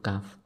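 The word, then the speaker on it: ك: Dan untuk perbedaan antara kaf dan qaf yaitu kalau huruf kaf ketika diucapkan itu harus berhembus atau berdesis. Kalau udah ngerti berdesis harus keluar angin ketika huruf kafnya diucapkan.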